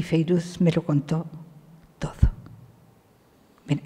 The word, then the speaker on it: Fairuz: Se escribe Fairuz, pero se dice Feiruz, y que es uno